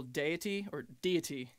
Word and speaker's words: Deity: And then just the other day, first Friday of November, we put out a new single, Deity. That's how you pronounce it. I got corrected previously.